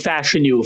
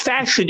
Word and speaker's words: Fashanu: Penn State you know I saying his name wrong you know what I only learned this about a month ago it's fashion I I didn't yeah it's fash Olu fashion um I got the